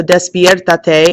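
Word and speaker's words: despiértate: want to wake up so despiertate and I'm going to hear that accent on the e and that's also three syllables back so that's how I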